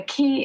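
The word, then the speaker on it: cay: And the key is spelled C-A-Y, not K-E-Y, but it's pronounced key.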